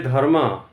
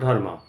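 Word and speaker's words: धर्म: I have told dharma, I will pronounce as dharm, not dharma, because dharm, as we speak in English, in Hindi, or in Sanskrit. Now, dharma or dharm, if I say dharm, that means if some English speaking people pronounce as dharma, it should be taken as dharm.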